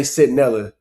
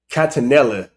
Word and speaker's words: Centinela: But this is also the same nigga that said, he didn't say Centinela. He said Catanilla, or some shit like that.